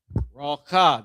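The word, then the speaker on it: רוח: So this is how it's pronounced. R-A-W, raw, and then C-H-A-A, cha. The Middle Eastern pronunciation, which is where we're from, the Middle East, racha, right, with that hawk spit sound.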